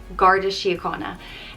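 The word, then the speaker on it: An Garda Síochána: this is the police force in ireland it's pronounced gardashiyakana and it translates to guardians of the peace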